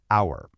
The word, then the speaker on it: hour: Take the word hour. It starts with the letter H, which is a consonant, but the H is silent.